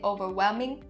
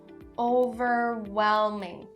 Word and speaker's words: overwhelming: Make sure that it is really clear don't skip it or drop it don't say "overwheming" no that's not correct "overwhelming".